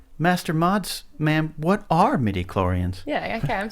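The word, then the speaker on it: midi-chlorian: say it properly Master mods ma'am what are medoran yeah okay I'm saying it right you're saying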